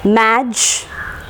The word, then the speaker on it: magical: Okay, and the stress will be on the words ending in ik, ikal, ikali, en and all that. Stress will be marked on the syllable preceding the suffix.